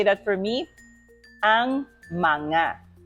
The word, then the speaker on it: mga: Filipino okay can you say that for me manga manga okay now Filipino Ang pambansang Pilipinas Filipino is